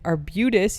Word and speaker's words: Arbutus: I have one on campus on November 30th, and I have one at the Baltimore County Public Library in Arbutus.